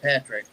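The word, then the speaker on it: Padric: spelling it's p-a-d-r-i-c but it's pronounced patrick even though it's spelled that way he told me he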